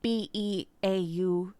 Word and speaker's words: Beauceron: Beauceron, so it's Beauceron.